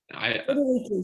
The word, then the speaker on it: Friederike: Is it pronounced Friederike? Friederike, yes. Mm-hmm.